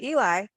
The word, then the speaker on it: Ely: I want to touch on the train because oh, Yerington, which is where we came from to go through Eli, I said it right this time.